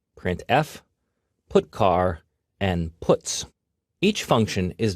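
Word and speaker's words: putchar: They are pronounced: printf, putcar, and puts.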